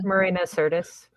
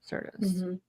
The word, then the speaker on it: Marina Sirtis: How do you pronounce her name? Marina Sirtis. Sirtis.